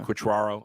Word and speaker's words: Quatraro: uh how do you pronounce his name again quaro quaro yeah quatraro I always forget how to pronounce his name I would vote for him